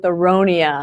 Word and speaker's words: Aronia: And I have to tell you that I Googled the O-N-I-A, what will rhyme with Aronia? And I couldn't find any better word than zirconia.